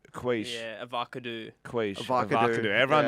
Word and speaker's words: quiche: Bro, Like saying, what do you say for quiche? You say like quickie or something. quiche.